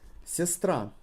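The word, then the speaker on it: сестра: star for example sistra the ra sistra with the emphasis on the last arm try to make a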